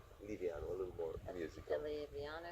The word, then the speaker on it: Livianu: Americans pronounce it Livianu. But the original pronunciation is Italian, like in Romania, Livianu. Livianu, a little more musical.